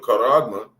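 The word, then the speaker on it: χάραγμα: The the the karagma. That's how you say that word.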